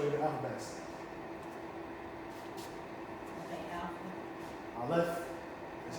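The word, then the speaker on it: Aleph: I left. That's how you pronounce it.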